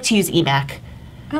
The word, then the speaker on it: EMACC: to keep them separate I like to use eMac yeah it's just more fun ya know and it rhymes with our hashtag that we've used for two years which is eMac is back Oh why were you